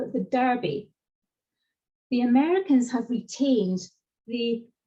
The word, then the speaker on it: Derby: Think about the place where the horse race happens, D-E-R-B-Y, we say Derby in this side of the pond. The Americans call it the Derby.